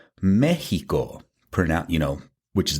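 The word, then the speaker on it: México: me x i o, but we still say Mexico pron, you know, which is the way that you would pronounce me e j i o."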